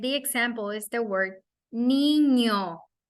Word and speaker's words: niño: And the example is the word niño as the NY pronunciation for the word canyon, right?